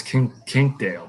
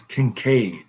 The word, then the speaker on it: Kincaid: i said i always look at that and think it's king king dale but it's kincaid kincaid outdoors again the link